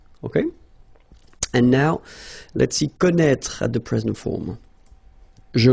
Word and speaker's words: connaît: Well, you pronounce these three forms the same way. Okay, connaît, connaît, and then connaît.